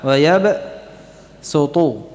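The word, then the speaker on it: ويبسط: Diriwayatkan kedua kata tersebut dibaca dengan huruf sin saja, padahal tulisannya shad.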